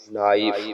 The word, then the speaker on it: knife: लफ्ज बन जाएगा के साइलेंट है तो एन से शुरू करेंगे, एन नून की आवाज दी है तो नून अलिफ ना, हमजा छोटी ई, नाई फे मौकूफ, नाइफ, ठीक है।